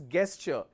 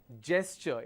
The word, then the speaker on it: gesture: quarantine next is gesture it's not gesture okay never mispronounce this as guesture it is gesture it's a j sound not a g sound gesture then we have